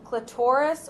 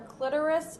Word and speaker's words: clitoris: You also have there on the picture the clitoris or clitoris. It's pronounced both ways.